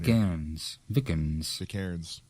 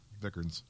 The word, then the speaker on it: Vikernes: Vikernes. Thank you. Vikernes.